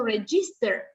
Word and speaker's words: register: Hay gente que puso, por ejemplo, acá puso register. Sí, register se escribe con G, pero no suena como girl.